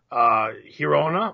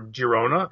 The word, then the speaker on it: Girona: So, just before we got on, we saw our friends at NYCFC Nation posted that there's a rumor that Girona, or Girona, if you want to pronounce it phonetically.